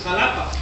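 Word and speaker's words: Xalapa: The capital of Veracruz is Jalapa, spelled with an X, jalapeño.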